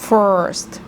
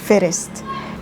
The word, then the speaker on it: first: so first مش first. حتى خدوا بالكم لما اقول first اللي هي الغلط واطول في الره كده تطلع معايا موتور. ليه؟ لان هي بنطقها غلط، الره العربية first. خلاص يبقى كده دي غلط. ناعمة، لكن first موتور، في مطب عربية قديمة خشنة تزز على الارض you know.